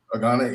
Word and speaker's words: Gane: Is it Gane or Gain? How do you say his last name, this dude? Gane, yeah.